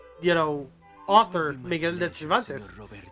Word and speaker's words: Cervantes: You couldn't open It's the sea Cervantes, gates for me, could like you? the, you know, author Miguel de Cervantes. But it's spelled with an S, like servant.